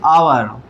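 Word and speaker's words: hour: इसको बोलते हैं आवर। आवर में ये आ की साउंड निकल रही है, तो एच के साथ क्या लगाएंगे हम?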